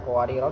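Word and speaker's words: قواريرا: Kemudian ada qawarira di dalam gharib ini cara bacanya ada 4, yaitu panjang, pendek sukun. Dibaca panjang ketika disukun diwaqaf. Kanat qawarira ra-nya tetap dibaca panjang jika diwaqaf. Kemudian dibaca pendek ketika diwasolkan.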